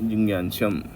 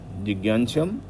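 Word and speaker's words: जिज्ञास्यम्: तो तो एता वदेव जिज्ञाशम तत्व जिज्ञा सनात्म ज्ञ प्रोनाउंस करेंगे तो उसमें ज्ञ मतलब नेल साउंड उसमें आना चाहिए अन्वय व्यतिरेकाभ्याम यत स्यात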